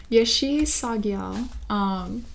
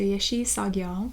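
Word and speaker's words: Yeshe Tsogyal: right, so they do tell me how to pronounce it. Yeshi Sagyal. So Yeshi Sagyal.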